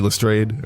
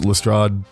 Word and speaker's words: Lestrade: has a first name it's just g lestrade or lestrade both pronunciations are used it's like the main